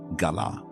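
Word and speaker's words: גָּלָה: The word is galah. Spelled in the letters we use in English, g a l a h, pronounced ga la.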